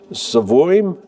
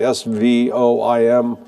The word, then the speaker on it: Svoim: And uh you're you're now involved with Svoim. Am I pronouncing that right? S V O I M.